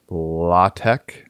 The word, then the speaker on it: LaTeX: using an existing two-column law Tech is that how you say it yeah exactly London a nice two column law Tech template and looking at